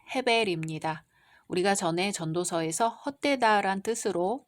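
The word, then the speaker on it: הֶבֶל: 히브리어 발음으로는 헤벨입니다.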